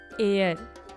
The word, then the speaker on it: heir: Next है honest, honour, are, एयर, ठीक है। तो बच्चों HEIR एयर, एयर का मीन्स होता है वारिस, नॉमिनी, ठीक है। तो हमारा आंसर होगा the sound of H is silent.